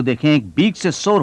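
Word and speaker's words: byxor: मैं आपके लिए सही प्रोनाउंस कर रहा हूं, बीक सॉ।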